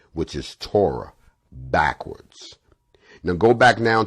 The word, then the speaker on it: Torah: t o r h the hebrew word pronounced torah meaning the law of